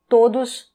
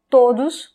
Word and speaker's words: todos: On traduit littéralement, ça devient todos os dias. Todos os dias. Attention, la prononciation, c'est todos. On ne dit pas todos, on dit todos.